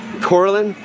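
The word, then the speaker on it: Coralyn: Layla Layla are you broke at all Orlin Corlin that's the first time I've heard that name how do you spell it c-o-r-a-l-y-n very cool my name's really hard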